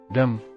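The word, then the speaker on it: dumb: ಅಕ್ಷರಗಳು ಎಂದು ಹೇಳುತ್ತಾರೆ ಉದಾಹರಣೆಗೆ ಡಮ್ ಮೂಖ ಸೈಲೆಂಟ್ ಲೆಟರ್ ಬಿ ಡಮ್ ರಂಗ್ ಡಪ್ಪು ಸೈಲೆಂಟ್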